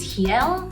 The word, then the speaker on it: real: mentioned before for currency the currency is heel the rs are pronounced as h's and for the airport